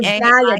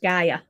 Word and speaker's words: Gaia: It's G. Gaia, just like the Earth, Gaia. Gaia. Okay. So, talk to us about the Gaia method because you go into great detail about that. Okay. So, Gaia is an acronym that